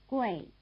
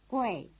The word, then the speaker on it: Gui: Now listen to the names in the second row. Fei, Wei, Gui. Listen again, they rhyme. Fei, Wei, Gui. Here, you'd expect G-U-E-I, since the A sound is spelled E-I, but in fact there is no E.